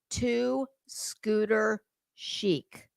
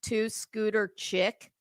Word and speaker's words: Two Scooter Chic: The woman, the correct pronunciation of that screen name is Two Scooter Chic. Do you know how many people call it Two Scooter Chick?